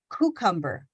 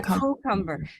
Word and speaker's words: cucumber: listening to it without if you don't put the invisible sound in here's how it sounds cucumber cucumber cucumber yeah cucumber exactly so let's listen i have two hands up here here's i'm gonna keep a fist for the one that's not correct and the one that has the y in it cucumber cucumber cucumber